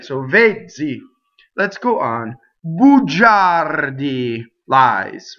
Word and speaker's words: bugiardi: So the R rolls. Notice that the I is there just to make the G instead of ga, ja, right? So G-A is ga, G-I-A is ja. The I softens, right?